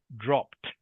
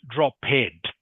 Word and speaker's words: dropped: so in this case the word is pronounced dropped dropped yeah not not droped okay some Ed words